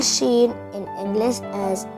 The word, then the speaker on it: Sheen: Shen you can spell Sheen in English as s h e e n Sheen it sounds like the combination of two letters in English s h s h for sheep